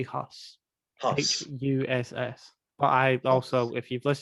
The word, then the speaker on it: Huss: Ella Hunt, Jane Karowski, Toby Hughes, or Hughes. Hughes. He has a weird sounding last name. I'd pronounce it Toby Huss.